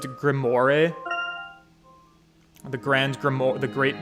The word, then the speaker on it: grimoire: less from a gentleman the librarian would pronounce it grimoire the grand grammar the